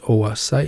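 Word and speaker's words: oocyte: let's meet that ovulated Oh a sight remember it's pronounced Oh a sight you remember that from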